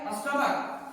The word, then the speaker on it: stomach: जैसे स्टमक, स्टमक, क आया, क्या आया उच्चारण? क। यहाँ पे CH, STOMACH, इसका मतलब स्टमक। यहाँ पे CH का उच्चारण क है, और जब क रहे तो सिर्फ उसमें क्या ऐड करना है?